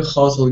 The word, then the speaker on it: hotel: Ага, ну вы знаете, да, что все время говорят, что мы делаем ошибку, когда ударение на первый слог, надо на второй.